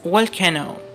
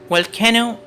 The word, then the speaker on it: volcano: This is volcano. Volcano eruption. Mostly people call this word volcano. This is incorrect pronunciation. Volcano is incorrect. The correct pronunciation is volcano.